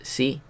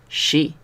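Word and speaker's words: し: No es si, es she. Seguro que alguna vez habéis conocido a alguien que se llame, por ejemplo, Sheila. Pues hay que pronunciar la SH. Hay que hacer sh. ¿Vale?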